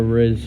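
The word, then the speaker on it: rizz: It rhymes with the app's name Whiz, which teens picked up and turned into a Riz challenges on R whiz.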